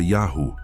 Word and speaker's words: Yahu: o nome de Yahu esses textos sugerem que a pronúncia era Yahu, idêntica a encontrada nos nomes dos profetas e nas inscrições arqueológicas. Aência de vogais massoréticas reforça que o som original dependia das letras e da tradição oral que apontam para Yahu,